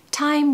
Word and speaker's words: time: Pronunciation tip, make sure you pronounce the T in time and tell because it will just give the idiom a real nice rhythm and a nice sound. So time will tell.